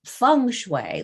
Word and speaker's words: Feng Shui: It's spelled Feng Shui and pronounced Feng Shui like tongue.